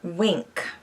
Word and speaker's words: Winc: box okay number four wink sends you monthly shipment of affordable and delicious wine that is also just really pretty to look at so wink winc is how it's spelled you take a quiz